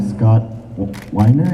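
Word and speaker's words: Scott Weinger: I was wondering, how come the voice of Aladdin of Scott Weiner, is that how you pronounce it?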